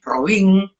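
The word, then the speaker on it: Robín: Nosotros tuvimos la revista de Robin, con acento en la I, Robin, porque en realidad no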